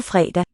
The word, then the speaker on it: fredag: Skildpadderne har ikke tid på fredag.